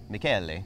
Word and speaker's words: Michele: Okay, so we're going to meet Miguel, I think, is one of the 3rd generation. Michele, yes. Michele. Michele. Michele, the proper pronunciation.